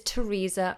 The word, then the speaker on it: Theresa: our prime minister is Theresa May again it's pronounced always with this T but these these are